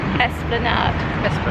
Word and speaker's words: Esplanade: break out break up so we've looked up how to say this place go on Kyle Esplanade so forget every other time we said Esplanade or whatever else we were saying coming up there elevator just then Esplanade which actually makes a